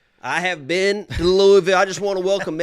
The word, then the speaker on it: Louisville: I get it. It ain't Louisville. Okay? If you're around the area, and I'm from around the area, I grew up hour and a half from Louisville. Okay? That's how you say it. It ain't Louisville. It ain't Louisville. You say Louisville. And anybody around the area would tell you, Louisville. It's just Louisville.